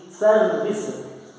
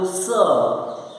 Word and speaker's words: sir: GIRL girl, EARN earn, SERVIC service, PERMIT permit, SIR को स, इसको सर नहीं बोलते, स, इसका उच्चारण होगा स, क्योंकि पीछे अंत में कभी आर नहीं बोला जाता है, तो ये अ में बोला जाएगा।